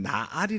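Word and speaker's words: נער: 따로 있는데 여기에 보면 히브리 오는 나 알이 라고 읽습니다 날이라는 것은 어린 소년들을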